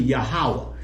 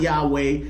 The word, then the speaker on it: Yahuwah: word comes out to yahuwah that is the true biblical translation of God's name it's not Yahweh it's not Yeshua it's